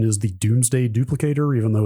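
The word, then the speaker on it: Domesday: combination with a device called I believe the pronunciation is the Doomsday duplicator even though it's spelled like a doday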